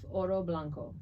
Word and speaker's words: Oro Blanco: Davidoff Oro Blanco. How do we spell that?